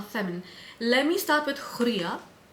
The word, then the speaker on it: Hurriya: Let me start with Hurriya. Hurriya. I know some of these Arabic names are difficult to pronounce, guys, but try to pronounce the R as double R.